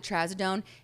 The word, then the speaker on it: trazodone: So then they prescribed me trazodone. Oh, is that how you pronounce it?